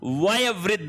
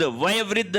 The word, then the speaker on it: वयोवृद्ध: फिर है आपका वयवृद्ध। वयवृद्ध नहीं होता है। वयोवृद्ध होता है।